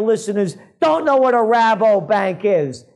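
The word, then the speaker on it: Rabobank: don't know what a rabo bank is maybe they thought I'm Mis pronouncing it and I'm saying robber bank but no it's a Dutch joint over there another one of the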